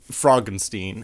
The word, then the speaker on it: Frankenstein: So, the main plot is it's about Frankenstein's grandson and he is a scientist, uh, Frederick Frogenstein, as he pronounces it.